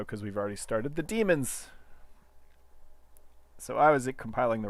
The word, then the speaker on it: daemon: And since this is running a different version of Gradle, it'll launch its own daemons. I spent a good deal of my life thinking that was pronounced daemon. But it's actually demon.